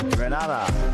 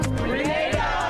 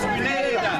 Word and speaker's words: Grenada: So today, like we Germans say, we are in Grenada. But I heard in English it's called Grenada. Say it right. Grenada. Say it right. Grenada. That's right. Grenada. There we go. Say it right. It's Grenada. It's not Grenada. It's Grenada.